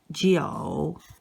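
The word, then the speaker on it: 九: number one it's simply two lines and it's pronounced number nine is geo geo you see this is number three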